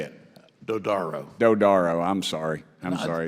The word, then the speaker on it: Dodaro: Burchette from Tennessee thank you Mr chairman Mr Daddario I believe it I get that name right what is it how do you say it dodaro dodaro I'm sorry I'm sorry that's fine I